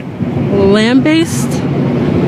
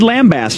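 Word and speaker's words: lambaste: you pronounce this word lamb based she says lamb based she is correct she got it lamb based I would not have got I would have said lambast I think else with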